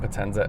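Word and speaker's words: Potenza: grand tour this particular one is on Bridgestone Penza s001 L that's the correct way to say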